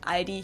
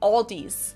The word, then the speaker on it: Aldi: In English, people usually pronounce this Aldi. I think I've also heard Aldi before, but I think most people say Aldi. Or they also sometimes add an S that isn't there in the end and say Aldis.